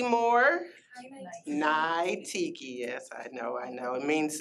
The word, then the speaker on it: Niteki: But Natiki Moore. Thank you. Hello, everyone. All right, I have notes. I am Nai Tiki Moore. Nai Tiki, yes, I know.